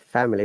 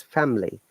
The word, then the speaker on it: family: No, guys, it is not family, it's family. I is the Schwa sound, which means we are not pronouncing the I at all.